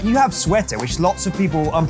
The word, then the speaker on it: suerte: You have suerte, which lots of people, I'm probably pronouncing that badly. You kind of are, but it's okay. I don't blame you for it. Suerte.